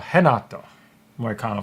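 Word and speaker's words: Renato Moicano: be Brad Riddell versus Renato Moy Cano or henato moyakano for some reason in uh Portuguese they don't like to pronounce a bunch of letters they'll spell it but they won't pronounce it okay uh damn the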